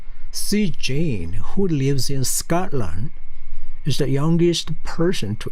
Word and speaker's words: Scotland: 지명 뒤에 land로 끝난 land로 끝난 거에 대한 발음은 대부분 land야, land가 아니고 왜 그러냐면 앞에 stress 강세가 있어요. 그래서 Scotland야. 그러면은 바로 옆에 있는 나라 어떤 나라 있죠?